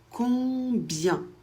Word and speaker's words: combien: Quand c'est suivi par un B, ça se prononce. On prononce le B et I e N, ça fait y, ça fait combien ?